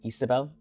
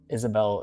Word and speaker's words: Isabel: Her name is pronounced Isabel, but Isabel, it's not like a huge deal.